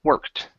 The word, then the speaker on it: worked: you had said worked remember the Ed equals a t sound okay so when when we pronounce the word it's worked okay uh last one